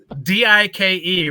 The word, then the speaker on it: Dike: Dike, right? How else would you say? That's how you pronounce it. Yeah. Is bike, right?